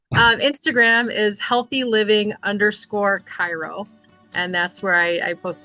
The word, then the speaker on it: Chiro: I was just going to help people know Cairo is spelled Chiro.